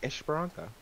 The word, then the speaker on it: Esperança: Well, it's Portuguese, right? It's just Esperança.